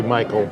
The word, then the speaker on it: Michael: The two sons, and I said Said- Michelle because that's the way it looks like it's spelled, but it must be Michael.